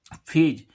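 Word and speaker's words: phase: है गा अब देखें फेज पी एच ए एसई फेज फेज means क्या होती है अवस्था होती है तो देखो इसमें भी एफ का उच्चारण काहे से हो रहा है पीएच से अब देखें अल्फा ए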